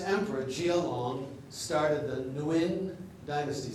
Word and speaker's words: Nguyen: This emperor, Jia Long, started the Nguyen dynasty. Sometimes the G is silent, as in No Din Siem, N-G-O, no. And sometimes it's like a W, Nguyen.